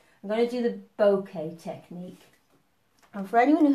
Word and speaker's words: Bokeh: backgrounds mostly so right now we're doing the bouquet technique think that says called pronounced bouquet bouquet and this is a really nice soft